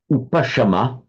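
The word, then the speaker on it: upaśama: Upa means up, and so upasama. Same in Pali, just a sa instead of a sha.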